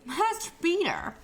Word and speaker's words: Master Baiter: You gotta say it like Master Bater. You have to say it with the flow. It's one word. It's one name.